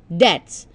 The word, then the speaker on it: debts: that the pronunciation is Debs B is silent when you are pronouncing